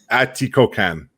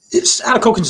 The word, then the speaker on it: Atikokan: Atikokan. Atikokan. We take any pronunciation.